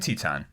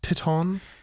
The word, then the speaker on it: Teton: um climbing the grand teton oh in jackson are you sure it's not pronounced titon it's the grand tit not